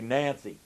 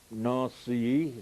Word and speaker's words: Nancy: north see as we we say nancy but uh that's not quite the right pronunciation for the frenchmen but anyway uh we